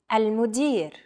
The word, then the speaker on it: المدير: المدير. المدير. Chances are your pronunciation was pretty spot on. The A, L, M, U, D, I, and R sounds are practically identical to English.